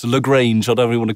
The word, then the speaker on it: Lagrange: called ursa dsp called lagrange and it's uh i'm kind of pronouncing it french but it looks how it should be pronounced lagrange whatever you want to